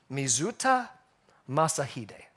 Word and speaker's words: Mizuta Masahide: Now this name, I'm going to pronounce the best I can. Mizuta Masahide.